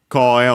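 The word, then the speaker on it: 声: Koe on its own, accent on the first more, means voice.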